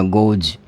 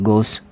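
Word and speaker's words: goes: और गोस आपको पता है, आप प्रोनाउंसिएशन इसका क्या करोगे? गोज, ठीक है। अब देखिए कि गो, ओ, ओ, जब आपके पास में ओ आ रहा है, ओ किसकी ध्वनि है? ओ किसकी ध्वनि है? वोवल की। यदि वोवल साउंड हो तो भी आपको क्या करना है? एस या ई एस में जो है आप इसका प्रोनाउंसिएशन ज करेंगे।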